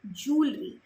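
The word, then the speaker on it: jewellery: नक्शल ज्वेलरी कहते हैं ज्वेलरी नहीं ज्वेलरी जितने लोग ज्वेलरी कहते हैं वे गलत कहते हैं यह उसका सही उच्चारण है ज्वेलरी नवशील जूल नश्ल जूल ठीक है अब आगे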